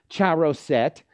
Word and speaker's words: charoset: and I'm so glad you did which is pronounced charoset and and the reason that jod did that